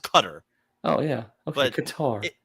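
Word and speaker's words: Qatar: guitar what did I say correctly it is pronounced cutter oh yeah qar it's qar cool this is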